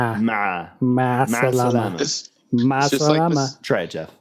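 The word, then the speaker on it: مع السلامة: Ma salama.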